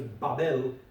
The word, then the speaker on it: Babel: Now you have Babel, the pronunciation is Babel, and Babel means confusion.